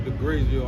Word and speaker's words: Degragioh: We got this young lady by the name of Degragioh.